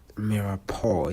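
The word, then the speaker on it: mirepoix: how it is spelled it is spelled different from how it is written. So always remember that mirao it's m i r e p o i x but the way you say it it's mappo it does you don't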